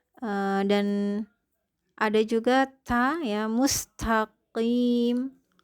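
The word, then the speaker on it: مستقيم: Qaf itu harus diucapkan juga dengan rahang terangkat karena dia adalah huruf isti'la. Karena nanti dia bisa jadi seperti kaf ya, mustaqim itu jatuhnya menjadi kaf. Harusnya dia qaf yang harus dibaca dengan tebal.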